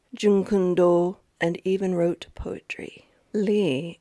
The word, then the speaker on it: Lee: Lee is the English way to say his name. Lei is the Cantonese way.